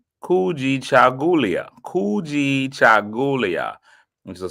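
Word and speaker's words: Kujichagulia: Kuji Chagulia. It means self-determination. We're gonna have to find a way. Somebody's gonna have to break that down phonetically. Kuji Jagulia. I said it right. Kuji Chagulia.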